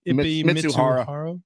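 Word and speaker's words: Mizuhara: Mitsuhara.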